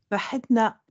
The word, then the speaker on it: Maëtna: Normalement, il faut souffler le H, mais ça va. Tu peux me montrer? Mahetna.